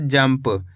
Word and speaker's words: जंप: तो मिलके बन जाएगा जंप इस शब्द के अंदर अपन ने आधा मा का उच्चारण करा है क्यों करा है मेरे